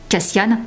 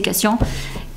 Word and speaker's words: Cassian: basé sur Nesa et Cassian cascian ce n'est pas comme on voulait le prononcer moi c'est Cassian et donc on va